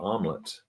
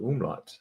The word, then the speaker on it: umlaut: I used to call it an omelet until I was corrected. It's not an omelet. It's an umlaut.